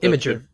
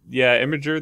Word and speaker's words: Imgur: And Imgur, or however you want to pronounce it. Imager. Imager. Imgur.